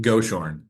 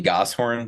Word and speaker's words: Goshorn: Championship from last year his name is Mr goor I guess I've never said your last name before is that correct how I pronounce that uh usually gos horn but you can call